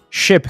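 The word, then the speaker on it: scip: aparecer só como dígrafo SC que é lida como se fosse um X o s literalmente some na pronúncia Ou pelo menos ele se adapta a ela ship que é o equivalente de ship no inglês moderno é exatamente a mesma pronúncia e a mesma palavra significa navio perceba que nem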